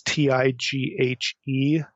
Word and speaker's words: Tighe: appears online by William, I don't know if you pronounce his name, Tighe or Teague. It's Tighe.